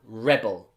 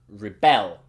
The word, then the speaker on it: rebel: pronunciation for you again if this is a noun rebel if it's a verb rebel if you want to